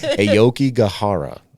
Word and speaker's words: Aokigahara: Aokigahara. I think that's how you pronounce it.